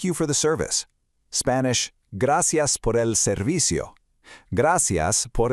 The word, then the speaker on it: Gracias: Spanish, gracias por el servicio. Gracias por el servicio. Emphasize those soft C sounds again, making them sound just like an S. Let's do it one last time. Gracias por el servicio.